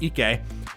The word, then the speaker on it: Ike: just about how Ike, who for some reason I thought was pronounced Ike, but the anime pronounces it Ike, he and some friends